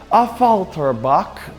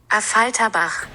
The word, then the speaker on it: Affalterbach: Over 50 years ago, back in 1971, the brand from Affalterbach, that's not how you say it, this is how you say it, Affalterbach, created the Mercedes-Benz 300 SEL AMG.